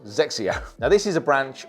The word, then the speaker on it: XXIO: he was with Nike xxio this is pronounced zexia now this is a